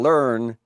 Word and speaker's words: learn: For an English speaking native, lawn and learn do not sound the same.